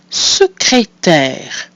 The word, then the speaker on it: secrétaire: So we have our I, which is a part of the syllable se. That's our mute I, pronounced E. Our second I has an accent aigu and is pronounced E. And the final I is silent. That gives us secrétaire.